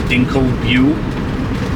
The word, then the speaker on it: Dinkelsbühl: The first major stop that we are stopping at is Dinkelsbühl. That's how you pronounce it.